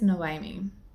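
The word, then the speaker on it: Noemí: this is about I the way her name is spelled is n-o-e-m-i it's no I mean um but basically it's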